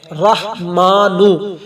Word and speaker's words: رحمان: یا رحمانو، یا رحمانو۔ اب را کے اوپر زبر ہے، رحمانو۔ میں ایک ایک لفظ